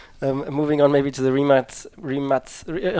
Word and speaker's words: Rimac: sure that happens moving on maybe to the rematch rematch how would you pronounce it exactly well in Croatia it's three mutts remot yeah I know many people have been sports